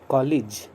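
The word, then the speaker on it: college: इसका शुद्ध प्रोनाउंसिएशन है कॉलेज, ल के बाद ई साउंड बोलना है, कॉलेज, के बाद ई साउंड बोलना है, कॉलेज।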